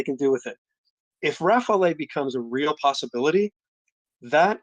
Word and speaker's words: Rafale: on it okay okay first of all Rafal two two syllables just Rafal easy um do I keep saying roughly yes oh sorry that's